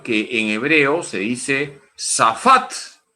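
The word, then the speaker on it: שָׁפַט: S-A-P-H-A-T, se pronuncia safat. El verbo safat, en hebreo, significa gobernar, liberar y juzgar.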